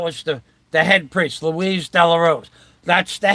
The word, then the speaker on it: Luis: Lewis is a masculine name of Spanish origin pronounce Louise and in the movie The Day of Wrath